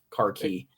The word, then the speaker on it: khaki: all start switching to khaki and that's that's a big thing or car as is pronounced in the Commonwealth car key right and it's the